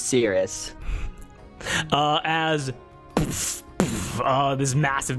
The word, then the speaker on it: Cirrus: do you spell that c i r r u s or is it kirus I think it's Cirrus I think Cirrus I think so it sounds better as serious uh as uh this